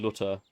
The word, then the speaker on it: Luther: Martin Lutter. That's how it how he would usually say it in German, right?